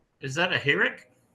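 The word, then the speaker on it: חִירֶק: Oh, I thought that was pronounced with a I like bitter. That's what I'm saying. Like sometimes it will be that short I sound, but as we So in this word in particular, we're going to see it's not it, but e.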